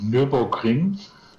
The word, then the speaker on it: Nürburgring: And how is it pronounced? Nuremberg? That big racetrack? Yeah, I want to take her there. You mean Nürburgring?